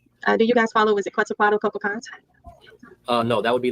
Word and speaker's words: Quetzalcoatl: Hey, I apologize for the pronunciation. I've learned how to say it now. It's not anywhere near that. Quetzalcoatl. It's Quetzalcoatl.